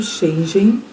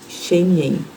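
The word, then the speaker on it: Schengen: Europeia e do espaço shengen na verdade meu marido falou que a pronuncia correta é shenen algo assim então ela não exige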